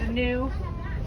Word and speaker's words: gnu: are water locals also refer to them as new for the sound they make that's spelled gnu new nude that sounds what they make when they snort they migrate across the